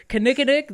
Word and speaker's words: Kinnikinnick: Kinnikinnick. All right. Well, I think I said it right. So you did. Kinnikinnick, there it is.